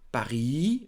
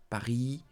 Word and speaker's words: Paris: Paris, Marseille, Strasbourg, Bordeaux. So, don't forget, do not pronounce the ending, the last letter. Don't say Paris. Don't say Strasbourg. Don't say Bordeaux. No, do not pronounce them.